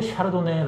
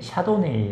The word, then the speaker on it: Chardonnay: 내도 프랑스 고향 해요 그래서 이 제품 술 식으로 샤르도네 라고 발음을 하는건데 영어발음이 샤도네이 라고 부르기도 합니다 4 투표 형 모두 널리 쓰이기 때문에 그냥 편하신 걸로 고르시면 될 것 같아요 예 절 부분을 채로